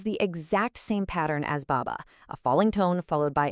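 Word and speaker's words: 爸爸: This word is bàba. Notice the tones here. The first syllable has that falling tone, ba, but the second one is light and neutral with no tone mark at all, ba. So together it flows like this, bàba.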